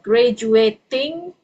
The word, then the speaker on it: graduating: Okay, so when you are pronouncing this instead of graduating, it's graduating. Okay, so sounds like a D. Okay, dalam bahasa Indonesia. Okay, let me see. So it's a silent T.